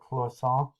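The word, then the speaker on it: cloisonné: It's called Clisson. It's the same thing happening here. It's spelled Cloisonne.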